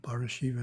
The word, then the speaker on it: Parashiva: Parashakti has a long A in the middle, and Parashiva doesn't.